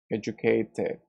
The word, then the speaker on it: educated: Teacher, why aren't you pronouncing educated? Educated. Because you know that in American English we have a vowel here, so this T becomes an R.